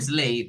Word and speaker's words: sleigh: Slay. Un Slay. sleigh, ¿verdad? Decíamos que esa palabra, la GH, no se pronuncia, ¿verdad?